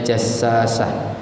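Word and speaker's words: جساسة: Bi fathil jimi, dengan dibaca dengan fathah jim, wa tasydidis sinil muhmalatil ula, dan tasydid sin yang tak bertitik yang pertama, jadi bacanya jassasah.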